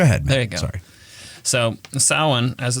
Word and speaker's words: Samhain: excuse me celebration of samhain looks like samhain when it's spelled out of course it does